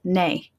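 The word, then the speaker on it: nae: Now, the negative contraction is spelled N-A-E because that's how they say it, nay.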